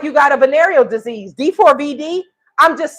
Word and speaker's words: D4vd: Is D4, it's spelled D4VD. I mean, it sounds like you got a venereal disease, D4VD.